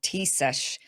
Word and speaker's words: Taoiseach: They call it a Taoiseach, I think is how you say it.